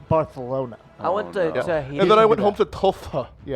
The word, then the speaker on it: Barcelona: Actually, it's pronounced Barcelona.